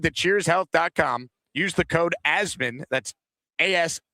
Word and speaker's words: Asman: Use the code asmin. That's as m an pronounced like jasmine with no j for 20% off your entire order.